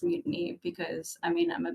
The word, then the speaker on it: MUTANI: Yeah, it's about mutiny, but it's pronounced mutiny because, I mean, I'm a bit of a pirate.